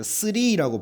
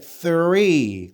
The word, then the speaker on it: three: three라고 발음하면 안 돼요. 어떻게 발음해야 돼? three.